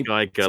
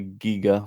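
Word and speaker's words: Giger: If they Geiger, like Geiger counter, yeah, because that's not how you. Because that's not how you say his name. You say Giga or something like that, but probably someone who is better at pronouncing names in...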